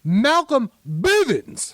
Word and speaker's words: Malcolm Bivens: it's not from business no you didn't say it right either it's malcolm bivens evans baby [ __